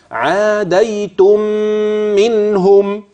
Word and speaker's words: عاديتم منهم: مكان الغنه فين لا مكان الغنه في هذه الكلمه عند وصلها بما بعدها وهتجنن في الميم الثانيه لا في الميم الاولى النطق ازاي يكون عاديتم منهم تاني كده عاديتم منهم طيب منهم موده يبقى